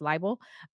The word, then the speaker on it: libel: there are 2 types of defamation: slander and libel. I think is how you pronounce that word. It's libel.